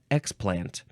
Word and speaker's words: explant: of xplant which um it looks like you emphasize the first syllable xplant the uh first form form we emphasize the second syllable so xplant is a